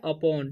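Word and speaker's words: upon: ठीक है, इसे उपोन नहीं पढ़ना है, इसे पढ़ना है अपोन। ठीक है, यू का उच्चारण यहाँ पर अ हो रहा है।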